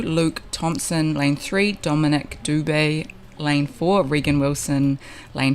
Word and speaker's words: Dubet: I was talking to Shay Vich this morning um and he believes the correct pronunciation of Dominic's name is Dubet. So Dominic Dubet, my apologies for calling Dominic Doo across the first uh day and a half, but